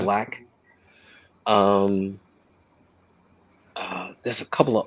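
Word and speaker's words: Blxst: artists like her, um, Black, which is spelled with a six, where people call him Six Lack, but it's Uh-huh. Black.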